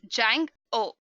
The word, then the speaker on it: Django: Django is pronounced as Jang-O. Make sure to keep the D as silent.